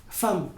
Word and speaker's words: femme: m'appelez pas e ici je deviens a exemple femme évidemment talent très bizarre en français les mots